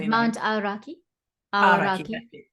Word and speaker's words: Aoraki: Aoraki. Aoraki.